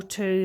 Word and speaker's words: two: it can mean also the two then with the silent w in the middle t w o means the number two